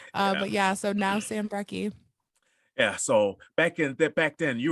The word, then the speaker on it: Brekke: So, may everybody introduce you to Samantha Real or Samantha Brekke? Or did I say it right? Brekke.